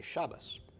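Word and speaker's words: שבת: do you speak in gosh janaszak dialect say Shabbos and a lot of Orthodox you'll hear say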